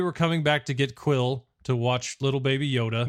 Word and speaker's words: Kuiil: So his name is Quill. I've been pronouncing it wrong this entire time because I was like, Khalil? Yes, because it's spelled Kuiil. Kind of interesting spelling to get the name Quill, but sure.